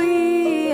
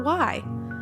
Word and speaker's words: y: It sounds like the letter E in English, but in Spanish, we actually spell it with just the letter Y.